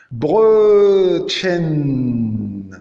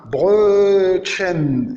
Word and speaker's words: Brötchen: Phonétiquement, c'est le E, comme Brötchen, le petit pain, Brötchen. Et on remarque qu'il y a deux types de E. Il y a le O umlaut accentué allongé, comme Brötchen, petit pain, Brötchen, comme je viens de lire.